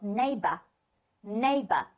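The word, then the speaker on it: neighbour: 些不同，在英国人的方式读来的话，这个词读作 neighbor，就是后面那个没有儿化，读作 a neighbor，而美式呢会把它发为。有儿化音的叫 bur，neighbor，neighbor，所以 neighbor，neighbor 都是可以的，两种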